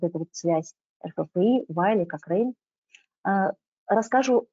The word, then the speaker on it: Cochrane: Но если вот принять во внимание, что Cochrane произносится вот таким образом, Cochrane, вот, мы транслитерируем таким вот образом, Кокрейновская библиотека.